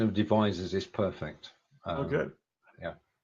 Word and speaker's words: Devizes: got it I didn't treat you good your pronunciation of Devizes is perfect oh good yeah and we have